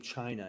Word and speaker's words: Qin: we get the name China and I know it's Qin but it's pronounced chin oh but in any case it did not the Qin dynasty didn't really live